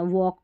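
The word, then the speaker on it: walk: अभी स्टार्टिंग में नियम बता दिया, टॉलक नहीं टॉक, वॉलक नहीं यहाँ पर वॉलक नहीं वॉक, इसको वाक भी नहीं पढ़ना, वॉक पढ़ना है।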